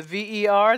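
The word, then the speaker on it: vers: And the V-E-R, the S is silent. Ver.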